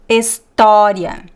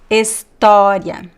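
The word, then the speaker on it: história: stressed second example here talking about the open R so repeat after me to practice Avo Avo Estoria Estoria so all these examples they always very very open and also stressed in Portuguese the graphic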